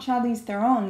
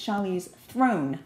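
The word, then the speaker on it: Charlize Theron: actually I learned recently it's not Charlie's Thon it's Charlie's Throne we're all pronouncing true story completely wrong y this you show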